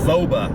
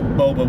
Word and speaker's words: Boba: call to my mom pronouncing it foba fit with a v so yeah little chagrin there when i later found out it was boba with a b but a few years